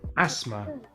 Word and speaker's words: asthma: Sometimes the H is silent in TH, such as Thailand, time, asthma, commerce, Thames ini and the Thames, as in the river in sungai London.